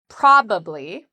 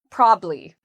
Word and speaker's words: probably: Well, the first part is where we have the stress, where we say it's stronger and louder and longer. There's actually 2 different pronunciations of this. You can say with 3 syllables, probably, probably, or you can say it in conversation with 2 syllables, probably, probably, or probably. You will hear people use both.